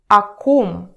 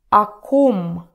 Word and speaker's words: о ком: So pay attention to the pronunciation. You remember the vowel reduction rules, right? So here it sounds not like clear о, but like а, а. О ком.